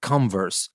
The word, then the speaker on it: converse: If you want to use this word as a verb, you say converse, not converse, converse.